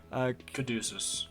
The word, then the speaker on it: Caduceus: I don't know how to pronounce that. Caduceus.